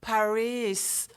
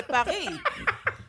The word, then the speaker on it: Paris: Like they go, Paris. Yeah. Like, no, it's Paris. You French, say Paris.